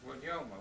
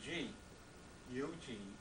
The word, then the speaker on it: Guglielmo: And then capital G, U-G-L-I-E-L-M-O, Guglielmo. The G is kind of silent.